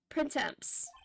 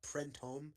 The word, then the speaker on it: Printemps: It's by the way, I think it's pronounced Printemps. Printemps. And if I'm not mistaken, it's French for springtime.